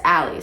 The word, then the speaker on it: Allie: But my name is pronounced Allie, so it's like, Allie do is read.